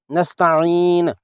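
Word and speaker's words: نستعين: نعبدو نہیں ہونا چاہیے۔ نستعین، یہاں سین کو خصوصی توجہ سے باریک پڑھنا ہے تاکہ صاد سے الگ تلفظ ہو سکے۔ وقفاً یہاں بھی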